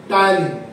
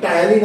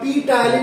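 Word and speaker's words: ptyalin: টায়ালিন। Clear? এই পিটা silent থাকবে, পিটা উচ্চারণ হবে না, খালি টায়ালিন আমরা প্রনাউন্স করবো এটাকে, ঠিক আছে? এটা পি টায়ালিন কিন্তু কখনোই বলবো না।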